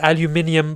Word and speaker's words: aluminium: conductive copper pins, and aluminium buckle frame. Yes, guys, we do in the UK, we say aluminium, and we spell it as aluminium as well.